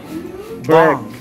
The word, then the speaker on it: bomb: Bomb.